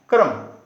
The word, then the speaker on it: क्रम: रहे हैं कि र आधा है, तो ये कर्म हुआ। एवं क में हलंत जोड़ र जोड़ म, क यहाँ पे आधा है, इसको ध्यान देना है। क्रम, इसको बोलेंगे क्रम।